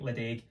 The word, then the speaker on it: Ledaig: is PED called Lei so it looks like Le but pronounced Le this was brought out